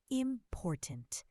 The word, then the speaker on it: important: Important. The second syllable is stressed.